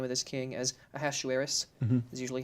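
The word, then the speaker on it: Ahasuerus: of this King as a hashu Eris is usually how it's I was wondering how you pronounce that Ashu Harris is usually how you pronounce it in most English Bibles in Hebrew it's but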